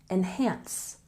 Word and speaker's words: enhance: in practice practice and a stress on the second syllable enhance enhance so don't forget